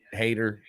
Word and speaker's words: Haight: call me a hate hater I I laugh my last name is people pronounce it height it's not height it's hate uh I'm a lover